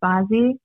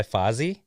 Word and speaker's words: Bazzi: My fifth one was Cosmic by Bazzi. By Fozzy? Bazzi. I always say, I swear I'll say his name wrong. Bazzi. Bazzi. He has like Fozzie the Bear? not Fuzzy, yeah. No, Fozzie. Fuzzy the Bear, Muppet.